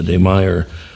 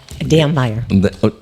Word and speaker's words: Dammeyer: Paula Cordderero, the Demier. Am I pronouncing it name right? Is it Demier? Damner.